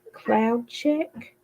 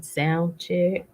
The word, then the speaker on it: Cloud Check: 4 every Sunday and I always say the name wrong but I am going to do it right today maybe and it is cloud check Cloud check hookah and daiquiri bar job man I've been saying sound check Dairy Bar sorry